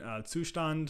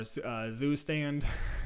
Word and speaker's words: Zustand: I'm going to use a simple one, Zustand or Zustand, depending on your pronunciation.